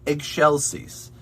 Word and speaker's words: excelsis: and excelsios deo you might be better if you imagine it as eggshells like you crack an egg right and you have eggshells left over so eggshell cease is a little bit closer to what is intended there also when you